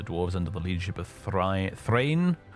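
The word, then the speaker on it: Thráin: This majestic and giant hall was cut into the Blue Mountains by the dwarves under the leadership of Thrain, or Thrain, really, would be the correct pronunciation, and Thorin.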